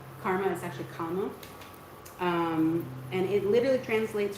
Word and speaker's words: karma: original word Karma uh you also hear it pronounced like Kama so we have that hard R we like to pronounce karma is actually comma um and it literally translates from a Sanskrit